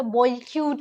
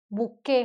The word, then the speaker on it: bouquet: नाउ बुके का spelling ऐसे बॉयक्यूट लिखते हैं ना, बॉयक्यूट. लेकिन इसका स्पेलिंग एक्चुअली इसका प्रोनाउंसिएशन जो है वो बुके होता है, बुके, ठीक है।